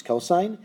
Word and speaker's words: cos: n e which is cosine it's often abbreviated as cos but it's still pronounced cosine of an angle that